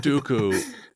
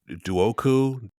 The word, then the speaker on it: Dooku: Is it Duoku? Doku? I'm unsure. Well, it's pronounced two different ways in the movie because Yoda pronounces it, I think, Dooku. But then he says Dooku later.